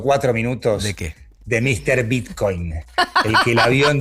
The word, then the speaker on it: Bitcoin: Eh porque le hace el acento en la O, Bitcoin, en modo Conmebol, eh como le dice Rodolfo D'Onofrio a la a la Conmebol, acentuando de manera distinta.